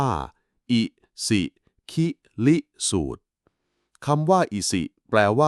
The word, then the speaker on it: อิสิคิลิสูตร: มี ชื่อ ว่า อิสิคิริสูตร คำ นี้ อ่าน ว่า อิสิคิลิสูตร คำ ว่า อิสิ แปล